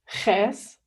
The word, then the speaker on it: Käse: So it's a really rough that you pronounce with your throat, as in like Käse, that means cheese, best example. Yeah, so it's really similar to the letter Ch in the Russian alphabet, like хорошо.